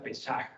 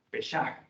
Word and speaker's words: Pesach: Escribe Peshuak y se pronuncia Pesach, Pesach.